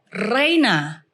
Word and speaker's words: Riana: Terus sudah gitu, is Reina. Then he spell it, R-I-A-N-A. Come on. He spell it, yeah. Jadi di Indonesia Rihanna, kalau di Nigeria Reina.